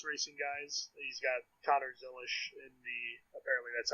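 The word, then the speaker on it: Zilisch: He's got Connor Zilish in the, apparently that's how you say his name now, by the way, in the one car for the O'Reilly Series.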